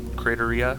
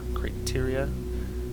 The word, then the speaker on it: Crateria: you say it CR crateria crateria it's like it's like criteria with a with an a instead of an I I don't know anyway